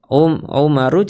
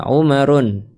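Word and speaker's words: عمر: Jadi Umar bukan umaru cara bacanya bukan Umarun tapi Umaru ya.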